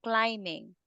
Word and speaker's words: climbing: climbing climbing Ro ra climbing be there is silent so instead of saying climbing you say climbing okay okay CL oh